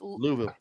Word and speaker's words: Louisville: but oh are you you're not saying it right you're saying it all wrong man no it's lulu it's like too much